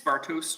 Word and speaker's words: Bartosz: pronunciation of your name it's bartosz bartus okay thank you uh